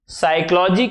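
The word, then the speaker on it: psychology: है नाइफ पढ़ते हैं साइकोलॉजी स्पेलिंग पी से शुरू होती है लिखते के एन डब्लू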